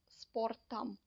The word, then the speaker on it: спортом: to change it for sportam. Even though the ending is om, we pronounce it like so it's sportam.